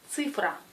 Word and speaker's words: цифра: Oui, c'est цифра, цифра. Car la lettre C est toujours dure, la lettre I se prononce U.